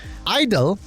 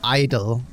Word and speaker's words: I-DLE: They're keeping the way it's spelled out, but the way you pronounce it and say it was just I-dle, I guess, is their preference moving forward.